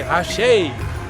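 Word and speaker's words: Àṣẹ: Then they say Ashe, Ashe.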